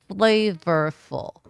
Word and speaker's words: flavorful: Flavorful. Flavorful. Flavorful. Like this. flavorful to keep your lips out and not touching each other.